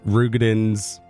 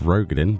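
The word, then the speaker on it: Roegadyn: Obviously, they've designed this to suit Rothgar and, you know, Rugins. I still can't get over the fact we have to pronounce it Rugin instead of Rogaden, but there we go.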